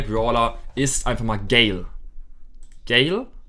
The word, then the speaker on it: Gale: Gale wird geschrieben Gale. Also er heißt Gale, wird das ausgesprochen. Also G-A-I-L. Gale wird er ausgesprochen.